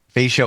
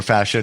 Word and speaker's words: fascia: We could do 5 podcasts on fascia or fascia, depending on how you want to pronounce it.